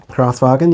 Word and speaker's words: Kraftwagen: And then Kraftwagen. Is that how you say it? From Ark and Wonders? Kraftwagen, yeah.